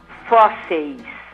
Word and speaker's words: fósseis: Fósseis. Fósseis. Você vê, são palavras paroxítonas e são acentuados também, né? Lembrando que paroxítona é que tem a penúltima sílaba mais forte.